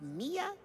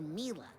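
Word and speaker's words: Milla: Is it pronounced Mia or Mila? Well, it's short for Camila, you know?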